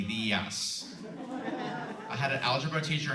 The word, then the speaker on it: Diaz: So what we're gonna do is we're going to, well, it's the morning, and I love to say Buenos Dias because it rhymes with Lucky Diaz.